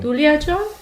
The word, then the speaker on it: Duliajan: So maybe can you tell us about your upbringing in India, in Duliajan? Oh yeah. Am I saying it right? Yeah, that's correct. That's really correct. And that's actually how I pronounce it as well.